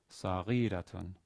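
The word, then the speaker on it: صغيرة: So in this exercise 5, sentence 1, the stress is on the third to last syllable in both words. Jariyatun saghiratun. Since the next to last syllable in both cases is short.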